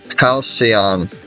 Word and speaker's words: Halcyon: Halcyon. Halcyon. Isn't it one of the seeds from Tithe? No. Something. Palakian? Oh, you don't mind that? I was wondering if she liked that nickname or not. Halakian. Halcyon Seed.